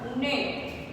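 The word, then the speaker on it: gnat: इसमें फर्स्ट जी ही साइलेंट है, फर्स्ट जी जो लिखा है वो साइलेंट है, नेक्स्ट भी साइलेंट है। फर्स्ट बोला जाएगा नेश, सेकंड बोला जाएगा नेट, नेक्स्ट नो, ये बोला जाएगा नो। इसमें तीनों में फर्स्ट जी साइलेंट था, अब है नो।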